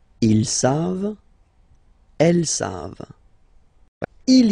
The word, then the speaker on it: savent: Here, classic ending for il and elle at the plural form, E-N-T. You don't pronounce it, so you get the sound save, v-v-v-v, save, okay? Ils savent, elles savent.